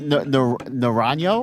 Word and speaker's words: Naranjo: This Did I is pronounce your last name right? Naranjo. Naranjo. Naranjo.